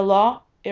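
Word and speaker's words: Loire: it doesn't look the way it's spelled it doesn't sound the way it spell the law a river is an awesome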